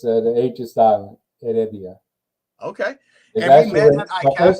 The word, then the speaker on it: Heredia: worst at pronouncing name so go ahead and pronounce your last name for us real quick it's Adia it's the ages Island Adia okay and met my first name is actually